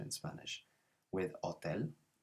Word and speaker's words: hotel: pronunciation in spanish with hotel it's a silent h so we never pronounce the h in spanish which is why it's